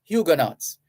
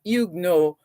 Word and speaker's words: Huguenots: as igno igno uh it's been anglicized to some extent and people just simply say huguenots huguenots so you can choose whether to say igno or huguenots right so the Edict